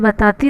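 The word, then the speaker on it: ب: ये बा जो है ना, ये ओल्ड पहले कहा जाता था, इसे बे प्रोनाउंस किया जाता था, लेकिन अब के ज़माने में अगर इसे बे प्रोनाउंस किया जाए तो लोग आपको बेवकूफ़ समझेंगे, इसलिए अब इसे बे नहीं बा प्रोनाउंस किया जाता है।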